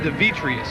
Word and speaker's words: Demetrius: I pronounce it Demetrius. Demetrius. Sounds like a gladiator.